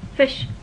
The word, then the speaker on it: ghoti: this one, Ghoti, and he says this can be pronounced as if it's fish, because GH, enough, GH can be an F, women, E, TI as in nation, that can be a sh sound, right?